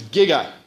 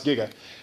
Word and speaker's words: giga: to Future day um they said jigawatts because no one in their entire production knew how to pronounce Giga um but you should